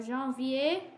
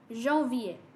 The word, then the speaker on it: janvier: So janvier, January. So you pronounce January in French, Jean, like Jean, and then V, janvier.